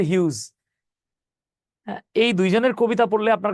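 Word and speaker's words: Hughes: আরেকজন হচ্ছে Langston হিউজ এই হিউজ বানান দেখলে মনে হবে হাগেস কিন্তু উচ্চারণ হচ্ছে হিউজ এই দুইজনের কবিতা পড়লে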